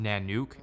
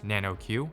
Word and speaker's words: NANOQ: so this is it right here it's the nanuk r now in that previous video I pronounced the name wrong the entire time it's correctly pronounced nanuk and not nanoq which actually means polar bear if you're curious